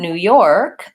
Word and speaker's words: New York: an ass on there Newark and New York I tend to stress the second syllable or both syllables New York but mostly second syllable is more important so the new is the same York has an or vowel so same as this the word you're with okay New York versus